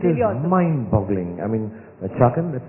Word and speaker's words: Chakan: I mean, Chakan, that's how you pronounce it.